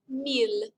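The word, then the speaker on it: mille: here the number 1000 in french is mil meal not to be confused with me a million just meal that's a thousand class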